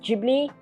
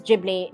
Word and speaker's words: Ghibli: I still think it's pronounced Ghibli. It is Ghibli. It's It's just me because it's a G and an H next to each other. So to me that's uh G Gibli.